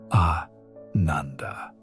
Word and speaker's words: ananda: She began to experience what the ancient texts call anandanda, pronounced ananda, which means bliss or deep joy.